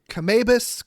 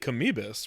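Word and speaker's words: Kamoebas: I mean, I would think Kamibus, right? It's basically spelled the same way as amoeba.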